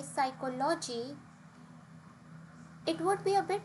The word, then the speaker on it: psychology: For example, if we say psychology, it would be a bit difficult for native speakers to understand because the word stress here is not correct. The right way of saying this is psychology.